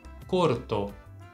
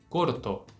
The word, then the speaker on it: corto: que significa curto agora como é que a gente vai pronunciar ela exatamente da forma como eu falei agorinha corto sempre com a letra O bem fechadinha repete para mim corto agora vem uma palavra